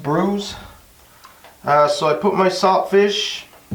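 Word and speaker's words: brewis: So what I'm making today is fish and brews. It's spelled B-R-E-W-I-S, but it's pronounced brews.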